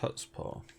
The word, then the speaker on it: chutzpah: doesn't have the same chutzpah that it used to, and that was Tenchu, the original Tenchu on PlayStation 1. You know that word's pronounced Hutzpah. Is it? The C is silent.